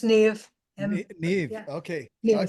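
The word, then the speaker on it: Niamh: Niam, how are you? Hello, I'm good. I'm just getting my video on here. It's actually pronounced Neve.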